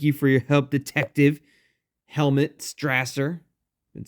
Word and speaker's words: Helmut: prepared to help you apparently I've been saying his name wrong this entire time helmet it's helmet not Helm mute it's helmet sorry helmet didn't didn't I'll